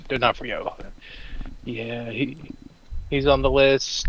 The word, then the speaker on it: D'Onofrio: How do you spell it? D-O-N-O-F. D'Onofrio. D'Onofrio.